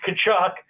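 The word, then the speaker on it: Tkachuk: little bit tough um it's kachuck you were you were sort of close I think you managed to mispronounce it two different ways but you know you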